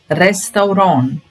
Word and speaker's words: Restaurant: or history number 12 is a restaurant rest Reston we don't pronounce this tea at the end D Reston